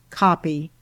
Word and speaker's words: copy: Observation: the double accent, when it unavoidably occurs, shows that the following consonant is to be pronounced in both syllables, as CO double accent PY, pronounced copy.